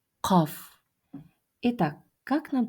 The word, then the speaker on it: قاف: Данная буква произносится при смыкании задней части языка, а также снёбом и голосовых связок. Это та часть, где у нас маленький язычок. Мы смыкаем её. К. А затем произносим звук к.